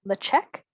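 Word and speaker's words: Ledaig: distillery the cheek so the d is a ch sound and it's technically pronounced the check like can i have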